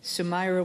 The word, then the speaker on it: Sumaira: Just a quick little note, Sumaira was very nice because I've been pronouncing her name wrong for this whole time, and she corrected me, and I kept forgetting the little A at the end, so I apologize, but